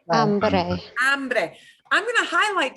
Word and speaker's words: hambre: Hambre. Hambre. Hambre. I'm going to highlight two things. Here is Mr. Trump's mistake. Hombre. Hombre is hombre, but hambre is hambre. They are very different words.